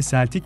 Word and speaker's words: Celtic: Bu kelime aslında İngilizce'de Celtic diye okunur fakat takımın ismini söylemek istersek, bu kelime Celtic diye okunmaktadır.